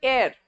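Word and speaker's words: heir: Legal एयर जिसको कहते हैं, एच is silent, remember that.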